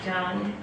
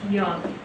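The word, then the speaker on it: Dũng: It looks like Dung. He really doesn't like that. But it's pronounced Young.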